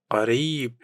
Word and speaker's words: قريب: Kabir means big, pronounced kabir. Kabir. Qarib means near or close, pronounced qarib.